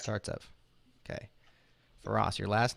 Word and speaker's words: Startsev: the show and julia your last name startsev starts up correct starts up okay for us your